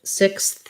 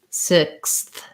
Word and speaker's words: sixth: the comments after class i think what helps with sixth is first practicing just six um because six bytes off is already hard so it has the x says x in this word so it's a c and a s sound so trying just first saying sick and then six and then finally sixth sixth um that is very